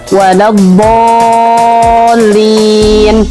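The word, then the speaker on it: وَلَا الضَّالِّينَ: Perhatikan di situ ada tasydid di huruf lam. Jangan sampai ketinggalan, kita bacanya waladdallin. Harusnya waladdallin.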